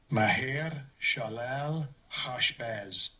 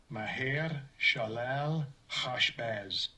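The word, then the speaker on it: Maher-shalal-hash-baz: Let's see, can we get pronounced? Strong's H 4122. Maher Shalal Hashbaz. Maher Shalal Hashbaz.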